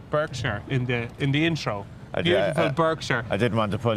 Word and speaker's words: Berkshire: that came in from Patrick Clerkin, apparently I pronounced it Berkshire in the intro. Beautiful Berkshire. I didn't want to pull you up there. Okay, here you go. What is it? Berkshire.